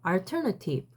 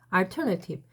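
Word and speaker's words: alternative: 벌써 42분이 지나고 있습니다 강세가 여기 있어요 처음에 있어요 따라해 볼까요 알터너티브 알터네팁 근데 여러분이 헷갈리면 안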